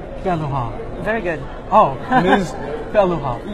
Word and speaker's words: Pellerin: Let me get this Miss Pellerin, how do we pronounce this in French? Pellerin. Pellerin.